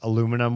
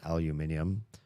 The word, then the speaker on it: aluminium: Aluminum was one of them. Aluminium for those of you that pronounce it the right way.